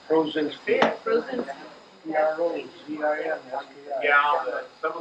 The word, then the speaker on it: Prozinski: 3 syllables. Prozinski.